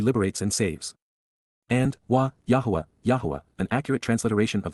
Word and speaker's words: Yahowah: Right from the beginning, Tchila at the point in time when this started and from the first, Yahwa, Yahwa, the proper pronunciation of YHWH, spoke, communicating, dabber, verbally expressed using words to convey, peel, perfect.